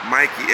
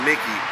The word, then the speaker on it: Mikey: because it's spelled proper Mikey m i k e y i c e it's not Mickey right Mickey has a c yeah you know what